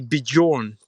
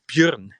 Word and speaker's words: Björn: my name correct, because most of the Americans say Bjorn to my name, and it's actually Björn, but that's hard to pronounce.